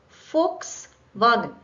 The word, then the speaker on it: Volkswagen: f just like J this needs to be pronounced with f not water now this is a very cliched example but Volkswagen not Volkswagen right FKS wagen FKS wagen with v